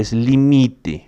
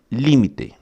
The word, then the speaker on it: límite: Então você não pode pronunciar limite nessa grafia que está aqui, ó, nessa forma de escrita que está aqui, porque aqui está em espanhol, tá? Então a pronunciação é límite, tá?